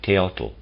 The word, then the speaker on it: Teotl: I'm pronouncing it Teotl, it's T-A-O-T-L.